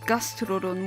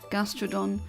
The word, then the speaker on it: Gastrodon: good um a good one torta gastodon G gastodon why did I say it like that gastrodon camerupt gral GOM and crack h i